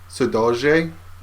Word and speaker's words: saudade: their mood from the Brazilian word saudade, pronounced more like saudade in Portuguese.